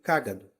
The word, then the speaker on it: cágado: é cado Caino então cágado tem a antepenúltima sílaba tônica Então ela é uma parox nesse caso cagado é uma paroxítona e cagado é uma proparoxítona então eu vou me referir